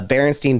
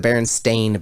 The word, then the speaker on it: Berenstain: ton of these uh berenstein bears for instance do you remember the berenstein bears no you don't they're the berenstain bears they've always been the